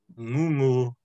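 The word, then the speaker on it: gūgū: Ngongo is a seabird, and then ngungu, with elongated U's.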